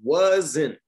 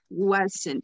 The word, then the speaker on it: wasn't: About You have to pronounce the N. Wasn't. Wasn't.